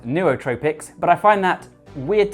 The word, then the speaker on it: nootropics: you should know is that technically nootropics is pronounced Neotropics but I find that weird to say and I've always said nootropics so I'm sticking with it you can also